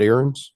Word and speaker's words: Aarons: Next item on the agenda is David Aarons. I pronounced that right? Yes, David Aarons.